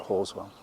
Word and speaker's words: Halswell: christchurch in new zealand called haswell although they pronounce it horswell so thank you again